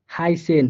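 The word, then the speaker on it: heißen: যেমন স্টাসে, স্টাসে, ফুস, হাইসেন, সবগুলো দেখেন অ্যাসেট কিন্তু স এর মতো করে, মানে হালকা একটু মোটা স এর মতো করে, স্পষ্ট স হবে না কিন্তু।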